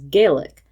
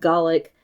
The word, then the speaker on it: Gaelic: the two languages and referred to it as Gaelic, While some people do refer to Scottish Gaelic and Irish Gaelic for simplicity's sake, the Scottish language is called Gaelic and the Irish language is called Galga.